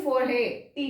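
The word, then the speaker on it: forêt: फोरहे, टी नहीं होगा pronounce, इसको हम बोलेंगे फेथ, फेथ।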